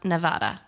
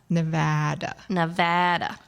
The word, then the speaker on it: Nevada: And I will remember how to pronounce Nevada. Nevada. Okay. Don't go to Nevada and say Nevada. Okay. It's kind of like when you go to Illinois and they say Illinois.